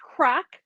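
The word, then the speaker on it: craic: So this is pronounced crack. It is a Scottish word.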